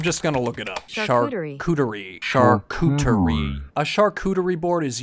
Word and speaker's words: charcuterie: Since a chartreuse board, how do you say it? I'm just gonna look it up. Charcuterie.